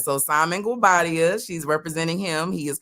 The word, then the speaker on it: Guobadia: Is it Guadabe? It's Guabadia. Okay, let me get that right. So Simon Guabadia, she's representing him.